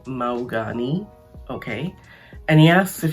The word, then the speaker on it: Mahogany: all lit up and in walks mahogany uh or as she tells him to pronounce it maugani okay and he asks